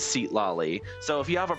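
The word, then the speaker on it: Citlali: saying her name wrong it's sit lolly not seat lolly And I said, "Okay, well, I'm just going off the translation that the game like the the pronunciation that the game uses, which is seat loi."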